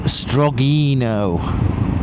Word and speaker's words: Strogino: strag and that uh pronounced as a word is strogino strag strogino uh it's